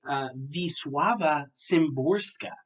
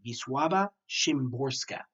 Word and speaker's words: Wisława Szymborska: read, or maybe are confused about Hatred by Wisława Szymborska. That is how the pronunciation guide is telling me to say it. Wisława Szymborska.